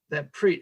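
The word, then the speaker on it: Prit: I believe it's pronounced Preet, P-R-I-T.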